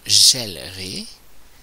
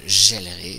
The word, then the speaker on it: gèlerai: conjugue, ça devient je gèlerai. J'ai bien prononcé un E ouvert. Le E se change en est devant un E muet. Donc, geler ne peut pas être ainsi. Je gèlerai. J'entends bien le est.